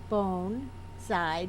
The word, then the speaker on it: bonsai: there are Specialties and bonsai bone side did I say it right yes you did I had somebody coming